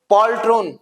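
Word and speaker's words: poltroon: Next one इज पॉल्ट्रोन। पॉल्ट्रॉन pronunciation है पॉल्ट्रन, बढ़िया word है गाइस पॉल्ट्रॉन।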